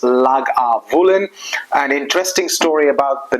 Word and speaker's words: Lagavulin: it up but it's very very simple it's pronounced lag aulen an interesting story about the name is that